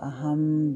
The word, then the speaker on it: Aham: during the meditation, you can use the mantra Aham Brahmasmi, It's spelled aham, A-H-A-M, aham, and Brahmasmi, B-R-A-H-M-A-S-M-I, aham Brahmasmi.